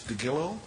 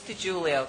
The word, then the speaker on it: DiGiulio: DeGillo? That's good enough. How do you say that? It's DiGiulio. DiGiulio. Like the pizza, DiGiorno.